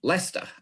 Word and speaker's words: Leicester: know that the following is a way to pronounce it, Leicester.